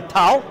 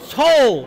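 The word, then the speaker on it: טל: Tal or tol? What's the right way to say it? That's what we're going to get involved in. He's going to basically say tol, Morid ha tol is the end of a sentence.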